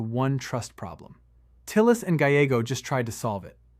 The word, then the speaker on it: Gallego: It's Gallego, Ruben Gallego. These two are not natural allies.